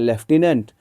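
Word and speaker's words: lieutenant: अह किसी वर्ड को स्पेलिंग जो है लॉटिनेंट होता है। लेकिन पढ़ते हैं लेफ्टिनेंट।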